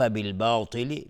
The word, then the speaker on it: بالباطل: با رو یعنی الف رو غلیظ تلفظ نمیکنیم، چون با از حروف استفهام است، از حروف ترقیق است، نازک تلفظ میشه و الف هم تابع باست.